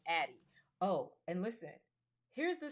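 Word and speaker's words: Addyi: its uh commercial name, which is actually called Addie. Oh, and listen, here's the story behind the name Addie, which is spelled Add a D Yi.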